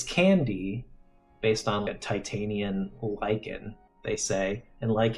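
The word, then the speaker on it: Can-D: is this product called can dashd pronounced candy and people chew this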